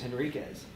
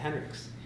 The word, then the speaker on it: Henriquez: My last name is Henriquez, and with the QU, I guess the Dutch name, he pronounced it Henrix.